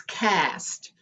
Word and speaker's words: caste: every week and april that word is cast but it's spelled c-a-s-t-e and it's a system